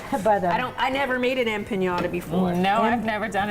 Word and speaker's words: empanada: But, I never made an empanada before. No, I've never done it either. Empanada. Empanada. Empanada. Yes. But I put an extra syllable in there. Yes, you That's a pretty good size.